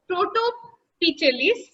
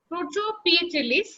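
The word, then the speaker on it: Protopityales: সেগুলো কি কর্ডিটেলিস, প্রোটোপিটেলিস, না এটার উচ্চারণ হবে প্রোটোপিয়েটেলিস, গিঙ্কোয়েলিস, পেন্টোজাইলেলিস, ট্যাক্সিলিস।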